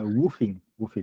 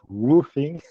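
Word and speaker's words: WWOOFing: woofing, not roofing.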